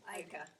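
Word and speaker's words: Eicke: Our next artist is Edna Ika, which I've been pronouncing it Ike, and her daughter tells me it's pronounced Ika.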